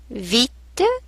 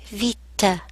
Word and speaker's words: vite: Vite means quickly or fast. Vite. The E at the end is mute. Vite. Now, let's look at some actions.